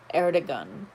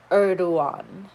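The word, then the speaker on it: Erdoğan: turkish president erdogan erdogan erdogan with g like in a gun but his name is pronounced urdu erdogan g is silent we cannot know it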